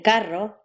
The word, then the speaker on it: carro: R, the R trill, as in carro, and D, the R tap, as in caro.